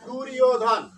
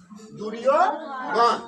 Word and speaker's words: দুর্যোধন: কেন উচ্চারণ করব, কারণটা হচ্ছে যে জটার উচ্চারণ, মানে যদি মধ্যাহ্ন জ বা যে জ থাকুক অন্তস্থিত থাকুক, এর উচ্চারণ হবে ইয়র মতো হবে, তাই না, আমরা শিখেছি। তাহলে ওই জর জায়গায় আমরা ইয় উচ্চারণ করবো, তাহলে ইয় উচ্চারণ করলে দু ইয়, তাহলে দু ইয়, তারপর কি আছে ধ, ঠিক আছে, তারপর কি আছে ন, তাহলে দুর্যোধন।